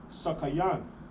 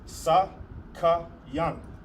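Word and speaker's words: סכין: And how do you say it in Hebrew? You'll say sakayan. Sa ka knife in Hebrew is sakayan.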